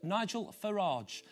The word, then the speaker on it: Farage: the former broker, Thatcher supporter and leader of UKIP, who likes his name to be pronounced Nigel Farage.